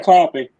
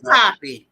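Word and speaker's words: Kotb: Hold a copy. Baby, it's copy. It's copy. Copy? Copy, like the copy paper. Okay, Copy. thank you. So with Hoda Copy, which will air on October 13th at 8 p.m.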